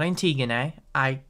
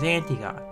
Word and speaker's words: Antigone: The new story concerns a young immigrant girl named Antigone (pronounced ann - tee - gonn) –not Antigone (pronounced ann - ti - goh - ney), I don't know why– and what happens when